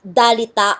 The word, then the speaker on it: dalita: location of the symbol at the start of the word it is pronounced d between two vowels it is pronounced R for example the word dalita meaning poverty starts with